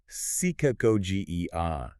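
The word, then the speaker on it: ψυχαγωγία: He says true rhetoric is psychagogia, pronounced psychagogia.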